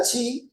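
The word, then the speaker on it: χ: el hermano Ahí está la chi o también se puede pronunciar esa que parece una x es Hi que representa 600 y luego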